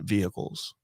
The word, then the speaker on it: vehicle: use the term investment vehicles have you heard the term you pronounce the h so harshly you're like vehicles how's